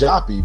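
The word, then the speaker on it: Joppa: A, but it's pronounced JPY because one of the original spellings was J O P P E.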